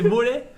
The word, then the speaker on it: Molay: Là, c'est Molay, c'est Molay. C'est pas Ah, c'est Molay. Molay. Et en même temps, tu prononces mal.